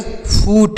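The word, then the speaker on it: foot: ड़ next word है F double O टी तो इसे पढ़ेंगे फूट एफ डबल ओ टी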